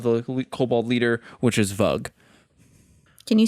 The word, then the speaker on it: Vug: kobold leader, which is Vug. Can you spell that? V-U-G, like mug, but with a V.